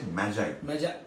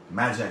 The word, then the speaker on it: Magi: আর আর আর আর ওই শব্দটার উচ্চারণ হচ্ছে MAGI, হচ্ছে ম্যাজাই, ম্যাজাই, ম্যাজাই, গিফট অফ ম্যাজাই।